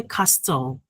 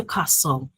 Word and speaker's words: castle: We don't say castle but we say castle. The t is silent.